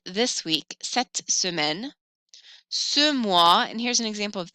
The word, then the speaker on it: mois: Un mois, as is silent. Un mois is a month.